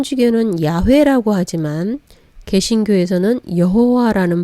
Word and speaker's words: 여호와: 발음 들이 생겨나게 되었구요 영어권에서는 발음하기 힘든 y 와 w 를 제이와 부위로 바꾸면서 이름이 여호와라는 이름이 생겨나게 된 것이죠 제일 먼저 살펴볼 이름은